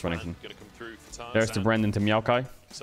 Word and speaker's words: Renekton: Well, we just said Ren Nekton had two syllables. No, it has three syllables, Renekton.